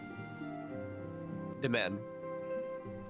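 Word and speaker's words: demesne: Demen.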